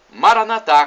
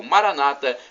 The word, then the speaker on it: Maranatá: E Maranatá, como dizemos nós católicos, ou Maranata, como dizem nossos irmãos separados. Não importa a pronúncia, o significado é o mesmo.